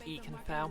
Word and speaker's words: Ikenfell: Yep, it's pronounced Ikenfell.